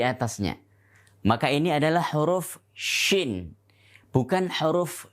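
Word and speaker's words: شين: Maka ini adalah huruf shin. Bukan huruf sya. Bukan huruf sya, tapi huruf shin.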